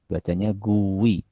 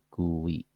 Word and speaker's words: GUI: Graphical User Interface atau dibacanya GUI ya, GUI.